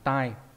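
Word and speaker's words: 代: Có trường hợp đọc là đai, ví dụ trong từ đai hiểu, đại biểu nhá, đọc là đai. Nhưng mà trong trường hợp này nó đọc là gì nhỉ? Là tai.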